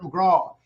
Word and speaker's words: McGrath: you know what Patrick in Ireland we actually don't pronounce our THS that's how we can say 333 and I'm going over there so people always go how do you pronounce your name McGraw and it's because we don't pronounce the th's that's how you've got